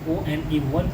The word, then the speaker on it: one: का जो उच्चारण हुआ, ONE का जो उच्चारण हुआ वो व हो रहा है, व, तो हमें स्पेलिंग के साथ साथ इनके प्रोनाउंसिएशन पर भी ध्यान देना है।